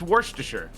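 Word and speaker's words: Worcestershire: Oh, we are pronouncing it right. It's worster.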